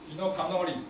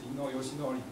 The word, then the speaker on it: 伊能嘉矩: 了解伊能他到底喜欢大家叫他伊诺康诺里还是伊诺尤西诺里，因为就日文来发音都是可以的。